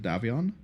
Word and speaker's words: Davion: I know they pronounce it Davion, but some of them pronounce it Davion, and I don't know, Davion sounds more interesting than Davion. Just sounds like someone's called like Dave.